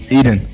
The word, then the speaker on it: Etan: itadan soutef what's up y'all my name is eden what's good that's kind of hard to say how do you say it again eden aka whatever else you like to be